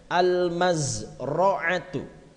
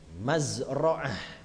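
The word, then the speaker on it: المزرعة: Selanjutnya al-mazra'atu. Mazra'ah, boleh dibaca mazra'ah, boleh al-mazra'atu.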